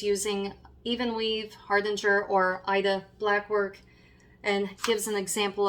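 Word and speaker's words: Aida: And with that, it mentions using, for example, if I mispronounce, I'm sorry, Ida, I believe it's Ida, A-I-D-A.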